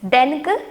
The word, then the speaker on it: than: தேனோட pronunciation என்ன? தேன். தேன்.